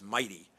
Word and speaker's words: MITEI: way mitei energy initiative let's get the pronunciation right it's mighty okay uh the um what